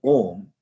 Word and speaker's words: Om: Remember, the word Om is a syllable which actually consists of a movement of the abdomen, the throat and the mouth. The sound starts from the abdomen and moves up.